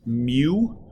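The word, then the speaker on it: μ: friction from those objects the symbol for this is kind of this funky-looking U and it's pronounced mu that is the symbol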